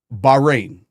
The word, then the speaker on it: Bahrain: I want to pronounce everything right. Okay, Ravan. Uh, Bahrain.